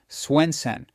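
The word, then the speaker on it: Swensen: David Swenson, pronounced Swenen, ran Yale's endowment for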